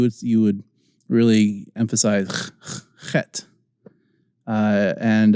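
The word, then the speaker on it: חית: you would really emphasize het and it's sometimes written as in English is transliterated as a CH but it's not pronounced cha it's pronounced ha so CH as in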